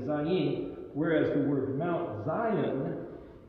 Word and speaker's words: Zayin: And this happens to be in Hebrew the letter Zion, pronounced with a Z. And as we mentioned last week, this is, you might say it's spelled phonetically Zayin, whereas the word Mount